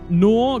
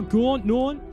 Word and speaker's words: Gnaw: It's Gnaw. Gnaw. Like Gnawing on the bone. Gnaw, Gorn.